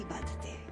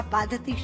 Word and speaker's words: बाधते: मुंह से बोला हुआ बाधती शब्द कष्ट दे रहा है, क्योंकि बाधते शब्द का अशुद्ध उच्चारण आपने किया है। ये शब्द बाधते होना चाहिए।